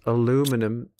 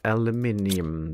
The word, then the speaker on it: aluminium: No, my American friends, it's not aluminum. It's aluminum. That's exactly how you spell it. It's how you write it down. And that's how you have to say it.